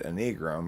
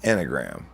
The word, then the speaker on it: Enneagram: when i read it i thought it should be said a negro because it looks like a necrom and then i just never stopped saying it that way but it's i guess officially pronounced enneagram what you try what's